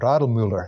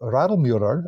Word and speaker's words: Radelmüller: gentleman named John Paul Radlmüller, is I believe how you pronounce it from the German. So Radlmüller allegedly kept a stock